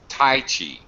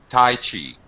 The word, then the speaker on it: Tai Chi: This is also going to get this compound stress pattern, Tai Chi. So you had it a little bit, Oksana, but you could widen your pitch range. So a higher high and a lower low.